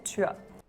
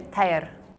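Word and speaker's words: Týr: In Denmark, we say tua. Tua. Also, the T has a little bit of palatalization. In Afrikaans, we say teyer.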